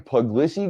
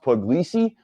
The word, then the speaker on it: Puglisi: they see what's going on with this Ryan puglicy guy and it's actually pronounced puglisi what who's this guy from Connecticut by what